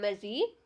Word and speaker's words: mushy: Next जो है हमारा वर्ड है mushy, mushy, जिसकी प्रोनाउंसिएशन है मजी, जो कि एक एडजेक्टिव है और इसका मतलब है टू इमोशनल.